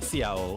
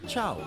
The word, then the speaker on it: ciao: Oh, and it's not CIO, it's pronounced ciao. Wait. is chow.